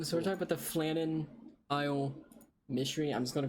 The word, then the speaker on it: Flannan: wrong I don't care pronounce this f-l-a-n-n-a-n that's not what I was asking announce it correctly flannon okay I was right it's also apparently in